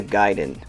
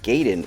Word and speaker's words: Gaiden: talk about ninja gaiden i always grew up calling it ninja gaiden which i guess is technically the wrong pronunciation i'll try my best to focus on gai and not fall back to my usual gay so this series has